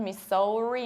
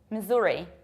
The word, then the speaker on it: Missouri: And it's not Missouri, not Missouri, it's Missouri, Missouri.